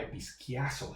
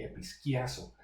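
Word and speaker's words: ἐπισκιάζω: Se llama episquiazo, se pronuncia más o menos así, episquiazo, ese término.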